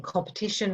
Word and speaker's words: competition: words compete and competition so in compete we hear a long e sound in competition we almost have that schwa so but the meaning